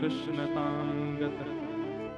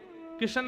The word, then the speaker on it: कृष्ण: तो कई लोग भी कृष्ण शब्द भी ठीक से नहीं बोलते। कृष्ण बोलेंगे किशन बोलेंगे जाने क्या क्या बोलते हैं जिसकी मति स्थिर है जिसका खानपान शुद्ध है जिसकी मति व्यवस्थित है वो कृष्ण नाम का उच्चारण उचित कर सकता है